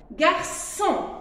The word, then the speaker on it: garçon: Mais si je lui ajoute la cédille, il devient so. Alors, je le prononce garçon.